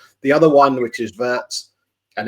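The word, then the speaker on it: Wirtz: The other one which is Vert and it is a a V rather than a W.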